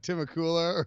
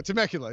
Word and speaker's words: Temecula: meet me in the Timucua and the guy drives two guys there Christmas day to like any like take suck you yeah yeah Temecula yeah that's it I can't even pronounce it right I don't know that